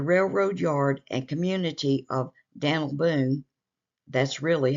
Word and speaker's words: Daniel Boone: The railroad yard and community of Daniel Boone, that's really how it's pronounced here, was named in recognition of the explorer.